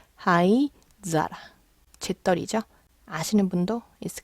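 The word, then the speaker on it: 灰皿: 훈독 사라만 있어요 그래서 하이 사라 발음이 조금 애매하니까 하이자라 재떨이 아시는 분도 있을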